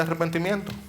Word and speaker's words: arrepentimiento: El mensaje de preparación de parte de Juan Era un mensaje de arrepentimiento. Iglesia, esa palabra es un regalo para nosotros también. Así con doble R, que es como medio difícil de pronunciar.